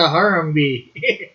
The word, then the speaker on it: Harambe: is a Harambe?